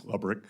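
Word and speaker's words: Lebryk: And I believe you were approached by the highest-ranking career official at Treasury, David Lebrick. Am I pronouncing his name correctly? I believe it's Lubrick. Lebrick?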